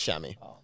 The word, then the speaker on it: chamois: called isn't it yeah it says pronounced shammy um but the apparently